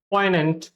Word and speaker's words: poignant: Actually, ये जो G है, this G is completely mute और completely silent, तो इसीलिए इसका जो pronunciation हो जाता है poignant, poignant, poignant.